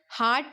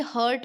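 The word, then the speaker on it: heart: Kidney trouble, हार्ट problem. देखो, ये ना करेक्ट प्रोनाउंसिएशन क्या करो, ये हर्ट बोलते हैं कोई तो, लेकिन ये हर्ट नहीं होता, ये क्या होता है? हार्ट, ठीक है.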